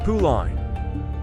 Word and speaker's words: Pauline: They had called her after Damien's sister Pauline, which they pronounced Puline.